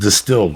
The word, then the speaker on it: DSTLD: DSTLD, pronounced distilled, offers luxury-grade denim at affordable price jeans that would normally cost you hundreds, dog.